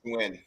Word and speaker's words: Nguyen: I'm pretty sure the last name is Nguyen. It's like win.